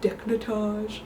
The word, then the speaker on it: décolletage: It's a more romantic look, I feel like, just showing off your décolletage. So I like that I have to say it like that, like décolletage.